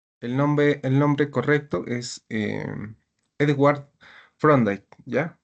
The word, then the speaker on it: Thorndike: Torday.